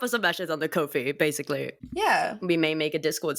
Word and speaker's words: Ko-fi: It rhymes with no fee, so it's Ko-fi.